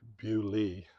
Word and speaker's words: Beaulieu: That pronunciation may be correct, Bewley. Yeah. But if you're looking for it on a map, it's a French word, Beaulieu. Yeah. Like Beau, Lieu.